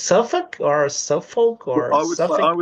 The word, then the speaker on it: Suffolk: to to to see the way that is pronounced I I thought it was s FK but it's like a suffk is different the way that is pronounced the name of this city is it's suffk or Suffolk or I would say suff however